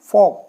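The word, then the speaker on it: folk: वाला देखिए तो जैसे के के पहले ल आया है तो ल बिल्कुल साइलेंट मॉक ऐसे ही टॉक ऐसे ही फोक नेक्स्ट देखिए अब आया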